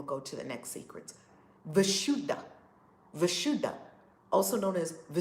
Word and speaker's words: Vishuddha: the Indian part of the world okay now vishuddha who you're an Aquarius love it is spelled B uh this is the Rasheeda this symbol vishuddha this is the throat chakra also known as visshuddhi how do you spell it v i SH